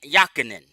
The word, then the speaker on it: Jochannan: Joseph or ysep Alfredo Antonio Ben yakan the J is silent 1918 to 2015 he